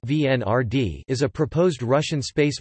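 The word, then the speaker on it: Венера-Д: Venera d russian Venera d pronounced vnr d is a proposed russian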